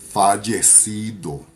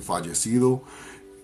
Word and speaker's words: fallecido: Fallecido. Fallecido means deceased loved ones. Fallecido. Fallecido, which is spelled F-A-L-L-E-C-I-D-O.